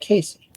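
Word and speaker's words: Cayce: He got it from the town of Casey, Kentucky, which he was born. The name of the town was pronounced pronounced in two syllables, exactly like Casey.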